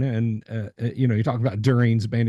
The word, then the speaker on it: Durin: to so and so Durin, and you talk about Durin's band. He's like, no, Peter, everyone listen, it's pronounced Durin.